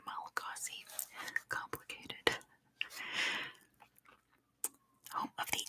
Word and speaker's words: Malagasy: The official language is Malagasy. Good job, Titan. Or, as they would pronounce it, Malagas. Because the SY makes an SH sound in Malagasy, but in English we'd say Malagasy.